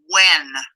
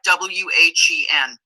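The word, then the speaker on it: Nguyen: that is spelled n-g-u-y-e-n it's pronounced when just like w-h-e-n so anytime you see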